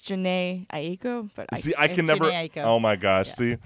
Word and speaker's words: Jhené Aiko: I know it's Gino Aiko. I can never pronounce it. Oh, it's okay. I think it's Jhené Aiko.